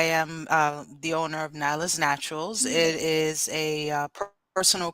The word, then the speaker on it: Nailah's: no different now am I pronouncing is it nyla's nyla's Naturals yes nachos I want to make sure I said that right we have the owner without Theta here the owner of nyla's Naturals with us today she's gonna let us